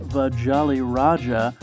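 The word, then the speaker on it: Vajoliroja: the ship which is apparently pronounced vajali raja after the jolly roger which deb reportedly purchased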